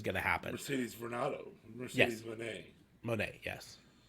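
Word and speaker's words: Moné: Ronaldo Mercedes Monet yes I think they technically pronounce it money I think it's an accent a grave not an Exon thank you Sante Q goes eh it's not ground goes e so I think it's Mercedes money I think technically anyways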